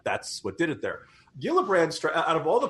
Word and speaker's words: Gillibrand: it's like it's like the people who miss pronounced jiff its Gillibrand this interesting sense if you look at her